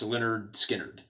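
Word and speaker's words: Lynyrd Skynyrd: dyno spectrum um and leonard skynyrd pronounced leonard skynyrd um i forgot about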